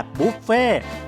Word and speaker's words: บุฟเฟ่ต์: เป็น การ เลี้ยง แบบ บุฟเฟ่ต์ ออก เสียง ว่า บุฟเฟ่ เป็น คำ มา จาก ภาษา ฝรั่งเศส ว่า Buffet หมาย ถึง การ รับ